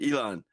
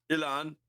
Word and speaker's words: Elon: It's Elon. That's what he goes by, Elon, not Elon.